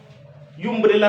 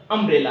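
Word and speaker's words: umbrella: अगर यू का उच्चारण यू से होता है, यू, तब इसके आगे आप ए लगाएंगे। देखिए जैसे लिखा, ये क्या लिखा, देखिए ये लिखा है स्टूडेंट्स अम्ब्रेला। यू अम्ब्रेला नहीं है, ये अम्ब्रेला।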